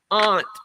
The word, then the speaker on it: aunt: Um, and aunt aunt and a ant is not crawling the ground.